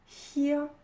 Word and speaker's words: hear: Hear, heard, heard, entendre. Le EA se prononce I dans la base verbale et ensuite au prétérit ou au participe passé, il se prononce heard.